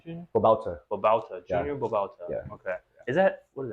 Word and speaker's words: Babauta: say your last name Junior Bal Bal Junior Balta okay is that what is that Filipino uh